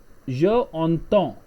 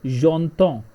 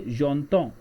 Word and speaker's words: j'entends: You have to say j'entends. Why? Because the French, it's a rule whenever the first word ends with a vowel and the next word starts with a vowel, then the first vowel get replaced with apostrophe.